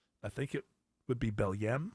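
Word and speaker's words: Belém: think it would be bellm I think it's the way it looks like it's pronounced uh yeah knock down that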